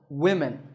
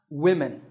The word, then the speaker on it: women: on here's another example women this word is written with five letters and it's spoken with five sounds but notice that both the o and the e are pronounced as short e sounds women this is because in